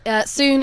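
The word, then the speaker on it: sŵn: soon is the Welsh word for sound. So it's spelled SW with a little hat N.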